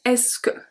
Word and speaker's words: Est-ce que: So, est-ce que, one word. Est-ce que, one pronunciation. Est-ce que, one of my favorite food, les pâtes.